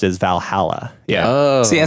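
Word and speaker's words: VA-11 Hall-A: hall a so now harlow which is then pronounced as Valhalla yeah yeah said it right yay go me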